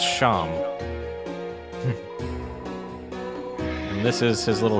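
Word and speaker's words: Seam: Mick Doohan off Avis the name Shaam it's pronounced Shawn and this is his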